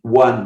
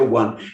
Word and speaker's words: one: O, que, por exemplo, o número 1, one, você não fala on, você não fala nenhuma outra coisa, a sua pronúncia é one.